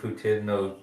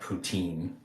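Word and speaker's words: poutine: ptin in Canada yeah you say Putin in Canada not ptin so like like the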